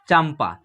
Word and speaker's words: चंपा: देखिए, चंपा, चंपा लिख रहे हैं तो इस पर जो है आधा म का उच्चारण होगा। देखिए, चंपा, चंपा जो है ऐसा